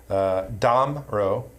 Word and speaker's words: Damrau: Damrau, the pronunciation, the emphasis is on the first syllable.